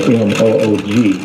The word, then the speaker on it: Moog: Synthesizer itself, which is owned and built by Robert Moog, that's spelled M-O-O-G, but pronounced Moog, because that's why you can say Bacala Moog.